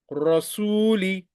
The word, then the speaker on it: رسول: Fatha on Ra, Ra will be recited as thick. Rasuli, Rasuli.